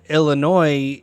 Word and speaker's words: Illinois: Illinois but fun fact the state of Illinois the S is silent I think that's true